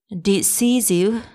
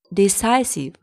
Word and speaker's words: decisive: It's not decisive, decisive, decisive, decisive.